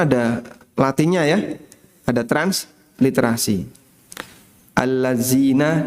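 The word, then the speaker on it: الذين: Alladzina dibaca alat zina amanu. Alladzina amanu dibaca alat zina amanu. Ya, transliterasi kan ngawur, Pak. Kadang ya orang keluarnya kalimatnya malah enggak karuan.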